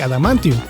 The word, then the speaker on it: adamantium: en esta parte si se cometió un error de doblaje al tratar de pronunciar literalmente adamantium cambiándolo por al amianto el metal es una